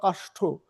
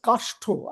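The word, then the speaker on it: Kastha: other group, which is an European group, Kashto, that's how I'm supposed to pronounce her name. I don't suddenly see her, but she is here. She's there, yeah, there she is. So this is Well, it's Kashto.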